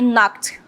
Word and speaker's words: knocked: I knocked on the door. I knocked. K ali é mudo, KN, quando você tem esse encontro, né? Vocês vão sempre deixar o K ali mudo, você não vai pronunciar, tá?